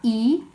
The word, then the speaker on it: y: I thought we'd recap E as well you remember that's pronounced e to link together any animals if